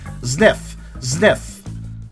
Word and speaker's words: Zniw: What was the pronunciation again? Just wanna Zniw.